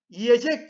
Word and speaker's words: yiyecek: Cem y sesinden dolayı yiyecek şeklinde telaffuz ederiz Yine neye veya niye